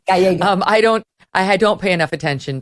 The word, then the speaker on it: Gallego: You, as I understand it, and obviously since I didn't know how to pronounce Gallego. It's Gallego. Gallego.